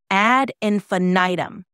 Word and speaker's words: ad infinitum: It's pronounced ad infinitum.